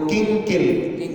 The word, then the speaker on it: किंकिल: से मैच नहीं करेगा, तो किंकिल जैसे अंकिल बोलते हैं ना, उसी प्रकार से किंकिल। किम माँ नहीं बोलना है, बिंदी को आगे वाले अक्षर को ध्यान में रख करके उच्चारण करना है।